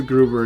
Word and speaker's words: Gruber: It's Hans Gruber, in case you didn't know. I said Gruben, didn't I?